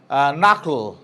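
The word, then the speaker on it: knuckle: যেমন knowledge, no, নক, নাকল, প্রত্যেকটা জায়গায় শুরু হয়েছে কে এন ইউ সি কে এল E, that is নাকল। নব, কে এন ও বি,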